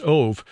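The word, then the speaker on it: אוב: also the origin of the Hebrew word of OB but pronounced ove which is usually translated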